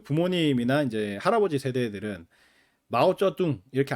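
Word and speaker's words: 毛澤東: 근데 옛날 여러분들 그 부모님이나 이제 할아버지 세대들은 마우쩌둥 이렇게 안 읽고 모택동 이렇게 읽고 그죠 그다음에 그 등 덩샤오핑 요렇게 발음하지 않고 등소평 렇게 읽었었고 어 그래서 지금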